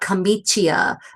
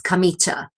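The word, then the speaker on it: camicia: Um, so yeah, anytime you have that I after a c or a g in Italian, the i is not pronounced. The i softens that sound, the the consonant that precedes it. So it's not kamichia, it's kamichcha.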